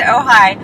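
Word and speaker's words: Ojai: up um we're on our way up to ohigh uh which is a place for people who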